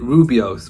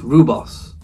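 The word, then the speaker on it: rooibos: I pronounced it Rubios, but I think it's Rubos. I think it's known as Rubos.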